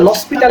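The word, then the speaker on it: L'Hôpital: তখন আমরা হচ্ছে একদিন এল হসপিটাল, যেটা আমাদের ল ছিল, তো সেটা আমরা ফ্রান্সিস উচ্চারণ করে লসপিটাল বলি সবাই, তোদেরকেও যারা কম্পিটিশন করাচ্ছি তাদেরকেও বলেছি লসপিটাল।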